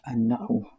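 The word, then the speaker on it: النحو: Is a shadda, an-Nahw. An-Nahw, like this. An-Nahw.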